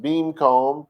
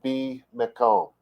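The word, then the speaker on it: בִּמְקוֹם: So, our first word is bimakom. It can be pronounced beamcomb, probably more modern Hebrew would do that, I would guess, but it's in the biblical period, they would have said be mekom.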